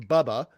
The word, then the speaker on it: Baba: yeah so first off Baba Yaga so Baba is like uh uh grandmother in in Slavic and sometimes it's pronounced Bubba right um the the